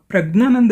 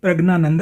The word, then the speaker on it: Praggnanandhaa: तो ये लोग प्रज्ञानंद बोलेंगे, प्रज्ञानंद। अब प्रज्ञानंद की स्पेलिंग जो है जब अंग्रेजी में जाएगा तो उच्चारण के अनुसार GN हो जाएगी, ज्ञ, प्रज्ञा।